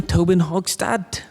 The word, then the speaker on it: Tobin-Hochstadt: right, next we have Sam Tobin-Hochstadt. Did I pronounce that right?